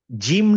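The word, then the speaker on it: ج: চলে আসলো আসলে আসলে আসল উচ্চারণ কোনটা আসল উচ্চারণ হচ্ছে জ সো আমাদের জই শেখা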